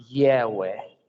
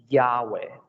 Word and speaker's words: Yahweh: Su nombre es el que pueden ver en la pantalla en este momento y se pronuncia de manera semejante a Yahweh o Yahweh.